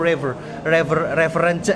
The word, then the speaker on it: reverence: Pakai V ya tapi ya, jangan pakai F. Beda lagi nanti kalau pakai reverence. Beda sama referensi guys ya. Ini bukan referensi. Reverence. Ini reverence. Kalau referensi kan referen. Nah, ini referensi.